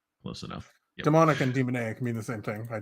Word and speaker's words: demoniac: Um, Incredibly long fingernails and kind of a demoniac glare. Demoniac? Not demonic, Demonic. demoniac.